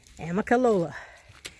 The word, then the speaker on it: Amicalola: I have spent the last 20 minutes trying to pronounce that waterfall. Amicalola.